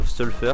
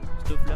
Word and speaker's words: Stoffler: Donc, Stolfer, c'est comme ça que ça se dit, hein? Stoffler. Ouais, Stoffler. Ok, nickel.